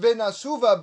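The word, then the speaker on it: ונשובה: word Venashuva, the word, it's pronounced Venashuva, but it's spelled Venashuv. The last hey is missing in the Ketiv, the way it's written in the Megillah. It's missing a hey.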